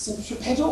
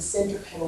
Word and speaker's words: centripetal: In Latin, that is centre speaking is centri, and to foot it into the centre is pedal. Okay? I'll just say pedal. Okay, so it's centripetal, or you want to pronounce it centripetal, it's up to you. So it's centripetal or centripetal force.